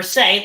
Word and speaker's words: se: And now for say, that's like talking, right? I say something, like S-A-Y, even though the syllable is S-E.